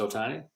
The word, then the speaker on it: Ohtani: you could have trout or Otani this is Otani is that right how you say it yeah